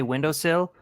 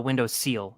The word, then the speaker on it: windowsill: And one of my friends, did you say window seal? I was like, yeah, it's sill.